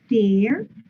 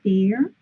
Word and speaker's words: tear: So you have to say tear. Remember the pronunciation is tear. Tear. Like wash and wear, and or rip.